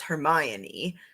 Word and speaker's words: Hermione: then from harry potter because i know it's hermione and draco germaine maybe then all right good